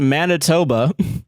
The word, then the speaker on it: Manitoba: It is pronounced Manitoba.